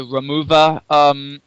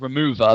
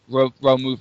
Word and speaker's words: Romuva: You have I believe it's pronounced the Romuva, not remover, but Romove, like almost like Roma.